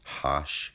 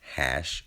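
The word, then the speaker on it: aitch: letter of the alphabet, its name in English is H, A-I-T-C-H, and in other languages it can be pronounced Hosh, Hash, or Hotch.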